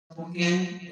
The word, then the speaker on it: pungi: What he plays isn't a flute, it's a pungi pronounced P-U-N-G, with K-U-N as in sun and one, and G as the letter G.